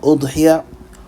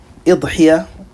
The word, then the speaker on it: أضحية: word udhiyyah, such as with a dhamma, udhiyyah, or with a kasra, idhiyyah, it can be said as well.